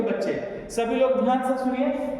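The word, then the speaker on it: tsetse: बच्चे सभी लोग ध्यान से सुनिए ये सबसे इंपॉर्टेंट है प्लीज इसको याद रखिएगा जिसको कहा गया है सीसी फ्लाई क्या कहा गया है सी सी फ्लाई टी साइलेंट है लिखिए सीसी फ्लाई इज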